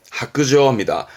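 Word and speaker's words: 白状: 그래서 발음은 하크저입니다.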